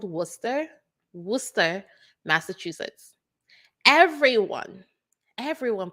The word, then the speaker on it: Worcester: so listen I live in a town called Worcester Worcester Massachusetts everyone everyone pronounces it word Chester because they could not understand how you get